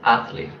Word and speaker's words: athlete: word number eight ah ah Ashley stresses on first athlete okay and I have